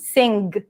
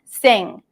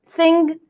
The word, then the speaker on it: sing: Generally, it's just an NG sound, sing. But if you do pronounce the G, sing, no problem.